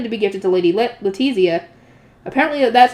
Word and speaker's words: Letizia: She is preparing meals for him to bring to Arensbach, a hairpin to be gifted to Lady Letizia. Apparently that's how you're supposed to pronounce it.